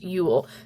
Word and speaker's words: Uhl: I do want to point out that Cassie is also the artist of this, and it is pronounced Uhl, so I did mispronounce it.